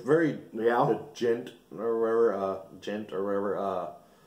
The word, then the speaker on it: djent: It's very the djent or whatever. Djent or whatever you pronounce it. I guess the D is silent, like Django.